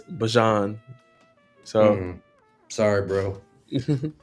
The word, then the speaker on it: Bijan: It's not uh, Bijan, it's Bajan.